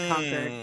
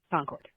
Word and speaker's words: Concord: I moved down here from Connecticut about eight years ago and I will never be able to say Concord correctly. I always say conquered because that's how it's pronounced in New England.